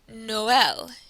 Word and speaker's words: Noël: It is used when there are two vowels next to each other to show you that both vowels should be pronounced.